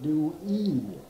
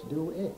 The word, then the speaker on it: Dewey: In my name, people try to spell it phonetically Dewey, but it isn't. It's Dewey. Dewey. Dewey. Dewey. Mm-hmm. But the E quality is there, yes, but it's mm-hmm. a short sound.